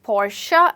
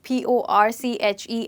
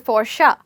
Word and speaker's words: Porsche: I think rapper Kelly got it absolutely right when he says Portia instead of saying Porche as Porsche. It's actually pronounced as Portia.